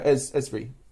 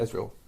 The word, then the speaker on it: Ezreal: And then Phil's character, how can I pronounce it? Ezra? No, Ezri. Ezreal. Ezreal. That's it. Ezreal.